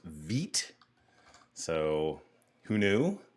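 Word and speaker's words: Vite: what i thought was veit is actually pronounced veet so who knew turns out that's a thing apparently it's french vit actually sounds a lot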